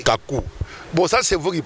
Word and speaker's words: Kacou: film du Jugement Dernier vous prononcez mal c'est Kakou bon ça c'est vous